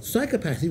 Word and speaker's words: psychopathy: And believe me, these are difficult words, because you've got psychopathy with a stress on the first syllable, psychopathic with a stress on the third, and sociopathy with a stress on the second to last.